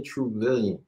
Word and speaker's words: Truvillion: And Billion, trillion, Truvillion.